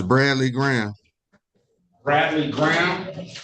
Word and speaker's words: Graham: sir good morning what is your name you pronunciation of your name please oh it's Bradley Graham Bradley gr right all right good morning to you Mr um that's uh gram g r a h m g r a